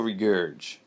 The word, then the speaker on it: Regurg: So beautiful regurge. This is if you can't see this, how this is spelled: REGURG, beautiful regurge.